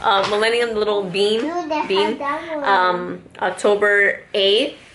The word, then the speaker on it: Millennium: I always say it wrong. Betsy, Beth Penfold always makes fun of me. I'm like, what am I to say? I think I'm saying it right, but I'm not apparently.